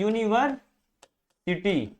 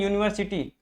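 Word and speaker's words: university: जब हम इसका प्रोनाउंसिएशन कर रहे हैं तो ये क्या निकल के आ रहा है, यूनिवर्सिटी, ऐसे क्या निकल के आ रहा है, यूनिवर्सिटी। अब ये वॉवेल साउंड तो है नहीं, ये क्या है, कंसोनेंट साउंड है।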